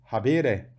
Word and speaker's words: habere: Habitat, mora, tem a mesma raiz que o verbo habere. Ter, habere. Vejam que o E é longo, da segunda sílaba, portanto, o acento cai lá.